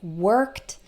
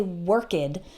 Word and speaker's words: worked: like the word work the Edie actually sounds like T okay so we don't say work 'add we say worked worked notice that you just